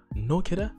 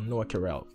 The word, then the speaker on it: Noa Kirel: out to no kidder no kidder because that's how she said it right nokira or noah karel i'm gonna say it like that let me know what